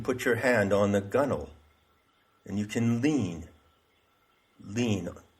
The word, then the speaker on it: gunwale: and that's called the gunnel g-u-n-w-a-l-e it's pronounced gunnel so it's actually a